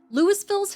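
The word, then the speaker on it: Louisville's: same name in Kentucky locals pronounce the s in this Colorado Town name lewisville's Historic downtown district was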